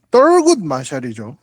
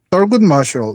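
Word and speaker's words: Thurgood Marshall: 이 조직에서 가장 유명한 인물이 서굿 마샬인데, 떨굿 마샬이죠. 영어 발음으로 하면. 네. 떨굿 마샬.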